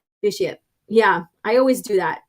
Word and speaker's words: Vitiate: My favorite Vitiate, the Immortal Emperor, pronounced I always say Vitiate, but I know it's Vitiate.